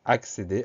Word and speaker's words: accéder: On va surtout faire attention à ces deux C qui se suivent et qui permettent d'avoir le son X. Donc accéder, A2C, E accent aigu, DER.